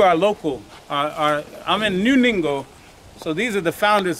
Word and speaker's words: Ningo: But we're actually in New Ningo, n i n g o. Rhymes with bingo with the n.